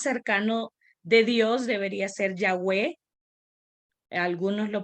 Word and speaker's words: Yahweh: de Dios Debería ser Yahweh algunos lo pronuncian Ya ve pero el más cercano Debería ser Yahweh el más cercano al nombre original y cosas como estas